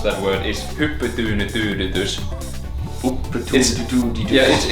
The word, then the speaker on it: hyppytyynytyydytys: Because the way you pronounce that word is: "Hyppytyynytyydytys."